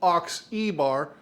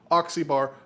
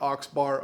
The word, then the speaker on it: Oxebar: I have been pronouncing this wrong it's actually pronounced Ox ebar oxybar not oxbar um that's my bad and it's also not